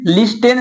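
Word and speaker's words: listen: से करें तो देखिए यहां पर हर जगह ना टी क्या है साइलेंट है देखिए रूल क्या है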